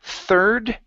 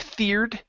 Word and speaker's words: third: uh let's go to third right here instead of feared okay the ir is an er sound er third third uh-huh give